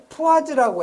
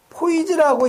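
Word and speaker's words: poise: 자, 그러면 여러분이 점성 그 계수의 단위를 여기 푸아즈라고 했는데 요걸 읽을 때 포이즈라고 읽는 사람도 있고요. 여기 같이 푸아즈라고 읽는 사람도 있어요. 상관없어요. 외국어이기 때문에 둘 다 맞는 거예요.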